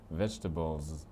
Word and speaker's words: vegetables: Quand on vient du français, on verrait 4 syllabes, hein.